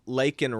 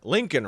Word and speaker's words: Laken: got he brought up lakan Riley and he called her he got her name wrong he called her Lincoln Riley so that's the first